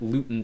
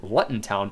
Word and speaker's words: Luton: match alongside Burnley and Luton Town I do apologize I think in previous live streams I had called them Lutton town uh it is of course pronounced Luton but Newton and Burnley